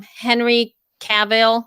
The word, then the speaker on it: Henry Cavill: Henry Cavill. Is that how you say his name? Henry?